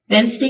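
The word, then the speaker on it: Wednesday: वाज अ वेनसडे morning वेनसडे का D silent है वी ऑल गट अप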